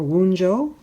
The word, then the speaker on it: Wunjo: someone a donation perhaps this looks like a p but it's pronounced as a w so this is the symbol for wunjo and that literally means